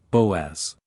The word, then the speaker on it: Boaz: Pronouncing, Boaz.